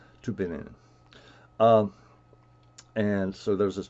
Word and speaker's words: Tübingen: guess it's in Tübingen, depending on how you pronounce the German. Tübingen.